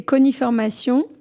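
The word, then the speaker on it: Cogniformation: Alors, sur le site, c'est Coniformation. Ah, Coniformation, d'accord. .com, pardon. Donc, Coni, ça s'écrit C-O-G-N, comme cognition, cognitif, enfin tout ce qui a trait à la réflexion.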